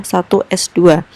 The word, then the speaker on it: 1s2: Ingat, jangan dibaca 1s kuadrat. Ini bukan kuadrat. Ini menandakan jumlah elektron sehingga bacanya adalah 1s2.